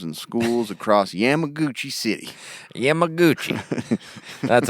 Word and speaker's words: Yamaguchi: broke into homes and schools across Yamaguchi City Yamaguchi that's how you'd pronounce it yeah I'm a Gucci I grew